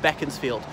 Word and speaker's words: Beaconsfield: as the Earl of Bekins field I know it's about Beaconsfield but it's pronounced beckons field which is a town